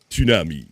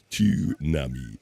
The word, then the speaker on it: tsunami: Tsunami, you have to pronounce the T. Most people overlook to announce the T. Oh my. Tsunami, oh my.